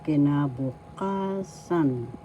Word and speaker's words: kinabukasan: So future future tense is in tagalog kinabukasan kinabukasan first syllable key second syllable na third syllable bu third syllable ka fourth syllable fifth syllable sun me please the fourth syllable ka has the accent So you pronounce this